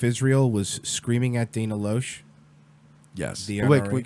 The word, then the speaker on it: Loesch: So remember when Sheriff Israel was screaming at Dana Loesch? Yes. Wait, can we pronounce it like Ben Shapiro? Sure. Loesch.